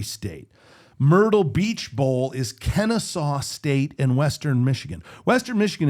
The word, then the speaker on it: Kennesaw State: Kennesaw State. Is that the way you say it? That is how you say Kennesaw State.